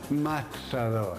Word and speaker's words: matador: Matador. Pronounce the T. Matador.